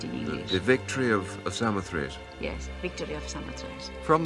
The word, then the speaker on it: Samothrace: The victory of Samothrace.